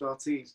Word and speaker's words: Ortiz: over the day and you went yeah it's pronounced ortiz so now i'm saying jasmine jasmine yeah i'm